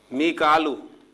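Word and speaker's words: ميكال: मीकालू, जिसे हम मिकाइल कहते हैं, तो कुरान मजीद में इसे मिकालू प्रोनाउंसिएशन के साथ जो है लिखा गया है और अदा किया गया है।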